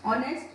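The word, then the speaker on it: honest: अंतिम 3 शब्दों में व्यंजन एच और एम होते हुए भी उनका उच्चारण स्वर ध्वनि से किया जाता है, जैसे आवर, ऑनेस्ट और एमपी, ठीक।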